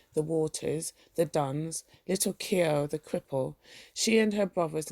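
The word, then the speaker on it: Keogh: I chased and the internet says it's pronounced Kio. All right. So her father used often to hunt them in out of the field with his blackthorn stick, but usually little Kio used to keep nicks and call out when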